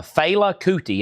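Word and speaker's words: Fela Kuti: Now, Fela, or somebody's saying it's pronounced failout, not Filela. Failouti.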